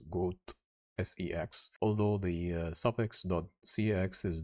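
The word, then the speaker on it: Goatse: Goatsy, a shock image originally from the website goatsy.cx, which was intended to be pronounced as goat sex, although the suffix .cx is no longer in use.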